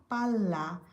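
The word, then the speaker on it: palla: এজন্য উচ্চারণ ভালোভাবে শুনতে হবে। পালা পাল্লা। ভিতরে দুইটা এল আছে।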